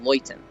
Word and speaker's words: Leuten: I say Luton because that's how I read it. But it is a German word that's pronounced Leuten.